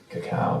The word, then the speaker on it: cacao: Music will come back on, there's some food, we got some cocoa, cacao I believe people call that actually. There's 2 ways to spell it. I've finally given in. Cacao apparently it is.